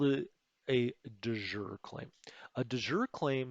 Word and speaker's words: de jure: is what we call a de joure claim or a du jour claim it's pronoun it can be pronounced sort of either way let's call it a de jure claim a de jure